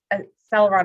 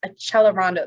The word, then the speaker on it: accelerando: to speed up and it's not pronounced as a celeron it's a chelorando that double c and italians chuck so a celerondo means